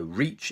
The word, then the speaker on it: reach: you have money okay so the first one reach you have to make sure your mouth goes this way reach so imagine you have something to pull your mouth and go out like that reach whereas the second one is a rich rich much shorter sound so reach and rich